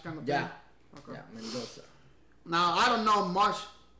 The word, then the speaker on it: Mendonça: Yeah, but the problem is, like in Portuguese, that C has like apostrophe in top. Oh, okay. And it's pronounced like C. It's like a slash kind of thing. Okay. Yeah, Mendonça.